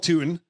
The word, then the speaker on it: Tuten: I had to make sure, I had to make sure the pronunciation. Oh, it's Tuten. It's Tuten.